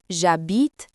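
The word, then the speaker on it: j'habite: We use the simple phrase jabit. A means I live in. The verb is to live. Aare I live in terrace. The H in a is silent. So we contract a to jabit.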